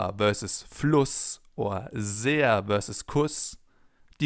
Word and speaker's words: Fluss: Because in front of a double S, the vowel is always pronounced short, as in Fluss or Kuss, for example.